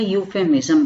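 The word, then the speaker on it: euphemism: ई इसमें साइलेंट होता है और इसको यू से स्टार्ट करते हैं, यूफेमिज्म बोलते हैं इसको, प्रोनाउंसिएशन इसका यूफेमिज्म होता है।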